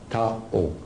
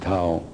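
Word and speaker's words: Thio: Now, to be easier for the lecture, her name is Tao. Got a problem already. T-H-I-O, Tao. That's her name. You can pronounce whatever you want, but I pronounce it Tao.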